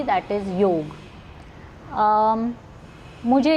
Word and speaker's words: योग: So this is a major correction for everybody who keeps saying yoga. It's not yoga. Let's first learn to say it properly. That is योग.